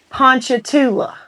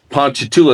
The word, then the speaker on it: Ponchatoula: Ponchatoula. Ponchatoula, it's like Ponchatrain, only Toula.